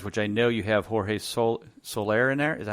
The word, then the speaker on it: Jorge Soler: I think we'll have some time to quickly touch on the undervalued guys, which I know you have Jorge Soler in there. Is that how you pronounce it?